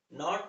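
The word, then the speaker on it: knot: अगर के एन के पहले आता है तो के साइलेंट हो।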